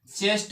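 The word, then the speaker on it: chest: पर क्या लिखा है मैंने सी एच ई एस टी इसको क्या पढ़ा जाएगा चेस्ट पढ़ा जाएगा ठीक है चेस्ट चेस्ट पढ़ा जाएगा क्यों पढ़ा जाएगा क्योंकि सी के बाद एच आया हुआ है और सी के बाद जब एच आता है तो सी का प्रोनाउंस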